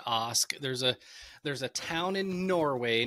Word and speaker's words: Ask: You know, oddly enough, it's pronounced Ask. There's a town in Norway named Ask, and everybody says Ask because it's spelled like Ask.